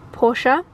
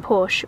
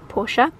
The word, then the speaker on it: Porsche: triple checked with the guys and the correct pronunciation is porsche i'd always been saying porsche but it is porsche and as you can see this beautiful chocolate